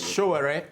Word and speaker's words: Sowore: I'm not Omisore. Omisore is the guy who was accused of killing Bola. It's Sowore. Sowore is my name.